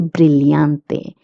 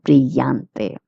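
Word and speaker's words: brillante: If if you're in Latin America, you will pronounce the two L's as Y.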